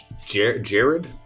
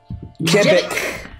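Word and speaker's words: Jebbek: Jared? Jevik. How do you spell that?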